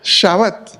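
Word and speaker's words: שַׁבָּת: Es el hebreo Shabbat, que obviamente nosotros conocemos que así es como los judíos lo pronuncian, refiriéndose al día sábado, que quiere decir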